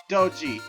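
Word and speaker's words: Doge: But there's one meme I never get tired of, so I gotta go with Dodgy. Very wow. Such cute. And by the way, that's pronounced Doji, like Dojo minus the second O.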